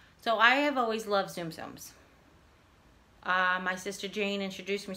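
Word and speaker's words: Tsum Tsum: I don't have any Zoom Zooms. I haven't collected any. TSUM is Zoom Zoom, is what I've always heard it pronounced.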